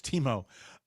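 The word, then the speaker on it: Temu: make a decision because I've heard it both way I like Teemu I like Teemu also it's natural to say Teemu then we we've agreed it's uh it's Teemo uh when you order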